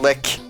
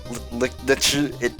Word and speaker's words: Lich: It isn't Lich, it isn't Lick, it isn't Lich, it's Lich.